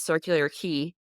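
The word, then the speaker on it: Circular Quay: said it it said the next stop is circular key and I said oh I would have been saying that wrong the entire time I was here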